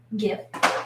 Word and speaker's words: Gif: My name is Gif. It's spelled G-I-F.